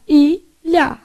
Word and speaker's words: ilha: O LH, ele sempre vai emitir esse som aqui, ó. Então, isso é uma letra chamada Tchê. Então, você faz ilha.